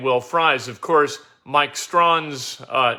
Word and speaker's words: Strawn: Of course, Mike Strawn's name is spelled Strahan. You'd think that that'd be Strachan. It's not. It's Strawn, of course.